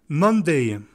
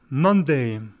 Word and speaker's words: Monday: L'accent tonique tombe toujours sur la première syllabe.